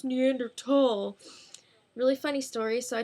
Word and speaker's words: Neanderthal: And at one point, Reagan calls Brendan a Neanderthal. And Brendan's like, actually, it's pronounced Neanderthal.